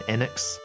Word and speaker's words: Enix: I also will probably always refer to Enix as Enix rather than NX, which I think is actually how it's supposed to be pronounced.